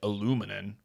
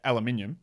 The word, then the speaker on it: aluminium: The second one, I know you guys say aluminum. But yeah, aluminium, because we actually spell it different. We have an I in there.